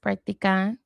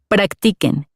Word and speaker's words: practiquen: I always thought it was pronounced practican, pero here, Practiquen.